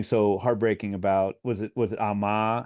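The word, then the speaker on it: 엄마: And there's something so heartbreaking about, was it Amma? How would you pronounce that? AMMA? Is the stress on the end, or like for mother? Oh, it's Omma. Oma. Yeah, the stress is on the first syllable.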